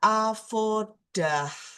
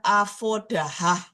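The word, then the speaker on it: עבודה: Dibaca avodah, bukan avodahah. Tidak dibaca avodahe.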